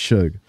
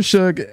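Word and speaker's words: Shough: been calling him Tyler sh but it's actually pronounced Suge uh Tyler Suge I've been harping on this dude since he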